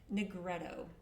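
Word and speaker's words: nigredo: And the first one is called Negretto and it's spelled N I G R E D O.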